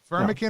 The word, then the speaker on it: Firmikin: Firmikin rhymes with Rimikin.